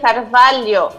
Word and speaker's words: Carvalho: Mi apellido se dice Carvalho.